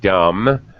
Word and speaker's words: dumb: correct very good yes usually when you see m b this uh mb together usually it's silent b like thumb you have four fingers and a thumb on each hand or dumb someone who can't speak is dumb silent b comb you you comb